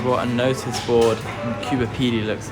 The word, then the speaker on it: Coober Pedy: Coober Pedy. Coober Pedy.